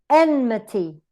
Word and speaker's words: enmity: So, for example, quantity, t, schwa, weak, t, neutrally weak. Custody, custody, the same example. Emperor, emperor. Enmity, enmity. So we tend to use it, we use it in the first syllable if the rest are weak.